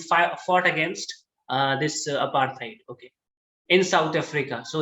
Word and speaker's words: apartheid: rights leader who fought against apartheid guys please pronounce the word correctly it's apartheid okay apartheid or it means racial discrimination against